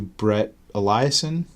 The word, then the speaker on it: Brett Eliason: But it producing credit goes to Brett Eliason.